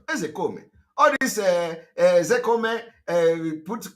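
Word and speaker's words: Ozekhome: You know, people are laughing when I call him Ezekome. Ezekome is the pronunciation. A lot of people don't know. You know, they come and they pronounce his name and adding Ke, Ezekome.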